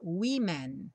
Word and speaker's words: women: escreve com E, mas curiosamente a pronúncia muda no começo e a gente fala women no plural. Então, uma mulher, a woman, mulheres, women.